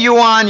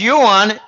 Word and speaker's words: yuan: it the R&B because when you say yuan, you can I mispronounce it. It's yuan. I've got Chinese clients who say, Jim, it's it's yuan.